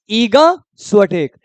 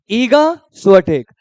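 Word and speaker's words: Iga Świątek: पढ़ेंगे ईगा इसको क्या पढ़ेंगे स्टेक क्या पढ़ेंगे ईगा स्टेक ईगा स्टेक किस कंट्री से भाई पोलैंड पोलैंड का कैपिटल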